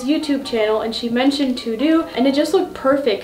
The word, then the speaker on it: TeuxDeux: Today's video is gonna be on how I'm doing digital planning using TeuxDeux.